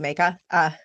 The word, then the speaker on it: Mayka: My name is Mayka. It's how you pronounce it.